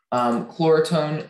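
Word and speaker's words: Chloretone: Chlorotone is the only pronunciation.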